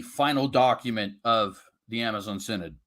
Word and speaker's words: Synod: and and and but she tore up that picture that's an easy way to remember how to pronounce Synod sorry go ahead yeah